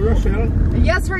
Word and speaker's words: Rochelle: If you're sophisticated, you'd know that CH goes shh.